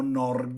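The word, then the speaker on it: Norge: in norvegia dove abbiamo nord e il nome della norvegia pronunciato dal dagli abitanti nor questa radice la ritroviamo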